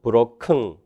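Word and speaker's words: broken: 브로컨 또는 브로큰 이렇게 됩니다.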